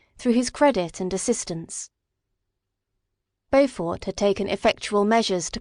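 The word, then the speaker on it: Beaufort: This man whose name was Bowfort was of a proud and unbending disposition and could not Hey Allison, I pronounced his name right. Bowfort, let's go.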